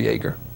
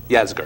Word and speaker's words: Yasgur: Shortly after we got there, which was very interesting, we came to the residence of Mr. Yeager. Yasgur, yep. Yasgur. That's right, because he came out and it's actually Max Yasgur's son.